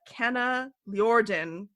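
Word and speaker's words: Kanaljorden: The project is on the Kana Ljorden excavation site. It's spelled Kanalljorden.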